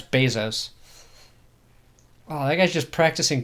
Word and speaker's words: Bezos: how are you supposed to say his name bezoar Bezos Bezos yeah it's Bezos oh that guy's just practicing karate but that